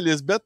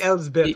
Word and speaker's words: Elsbeth: Bon, ça, c'est Lisbeth. C'est Elisabeth, by the way. Lisbeth. Ça s'écrit E-L-S. C'est Elsbeth, oui, c'est ça. C'est Elsbeth. Si vous cherchez Lisbeth, vous n'allez pas le trouver.